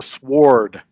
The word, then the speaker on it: sword: and first of all it's not a sword it's a sword yeah it's a sword learn to pronounce correctly so i mean they